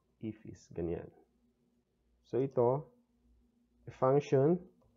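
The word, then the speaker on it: IIFE: Pronounce as ifis.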